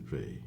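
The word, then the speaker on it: Weil: didn't she was French she didn't pronounce her name the German Way so she pronounced it V and uh she talked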